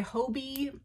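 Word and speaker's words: Hobé: style earrings these are by Hobie I believe that's how you pronounce it which is h-o-b-e you want to keep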